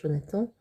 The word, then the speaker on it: Jonathan: Jonathan is the way you pronounce the name Jonathan in French, Jonathan, but it sounds like jaune attend. Jaune attend. Okay, so it sounds like the color jaune, jaune, and attend.